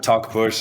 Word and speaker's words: Talkpush: too hot and secondly talk bush is uh just the way you pronounce it talking and pushing and uh and I'm